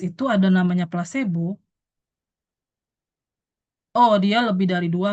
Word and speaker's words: placebo: itu placebo atau ee biasanya sih bacanya placebo ya, bukan plesbo.